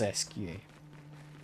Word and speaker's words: Esquie: I believe it is Esquie. That's how you pronounce his name.